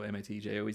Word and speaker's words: Matthews: Matthews in Belgium, so Matjoez, the same spelling, but pronounced differently.